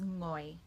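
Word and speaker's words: 我: It's just like the end of sing or song, bring, ngoi, bringing. If you can say bringing, you should be able to say ngoi.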